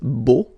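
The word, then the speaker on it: beaux: it's beau ok so you put this X at the end but then you don't pronounce it so it's beau all right bail bond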